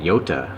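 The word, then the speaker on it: Jota: 1970 and that's the uh hota or italians pronounce it yota i guess a j is a y in italian so sorry there we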